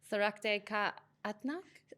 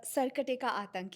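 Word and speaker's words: Sarkate Ka Aatank: final bit is Sarakte Ka Atnak. Sarkate ka Atank, yes.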